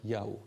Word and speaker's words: Yahweh: La traduction de la Torah en grec, il y avait encore le savoir que le nom du Dieu biblique peut donc se dire Yahweh.